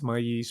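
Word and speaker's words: maíz: where corn or Maize I'll give it the Spanish pronunciation so don't say oh you know it's maze no it's my yeast I'll say maze for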